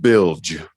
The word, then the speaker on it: Bilge: Is it pronounced Bilge? Am I saying it right? It's pronounced Bilge.